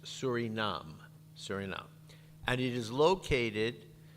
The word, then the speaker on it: Suriname: to see is that it looks like Suriname that's the name but it's pronounced Surinam Surinam and it is